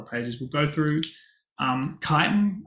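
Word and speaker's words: chitin: we'll go through um kiten um which is spelled cheating which I always mistake that um but this is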